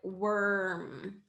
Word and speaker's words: worm: is one sound okay so warm or oh sorry warm or or warm warm excuse me there worm is more like worm like this okay so the difference